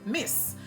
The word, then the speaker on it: Miss: And it's pronounced Miss. Miss is I miss you. So the same way you would say I miss you is the same way it's spelled, and that's how the pronunciation would go as well.